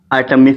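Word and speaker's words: autumn: एन इसको क्या पढ़ेंगे टम टम ठीक है आटम प मौसम होते है और क्या हो सकते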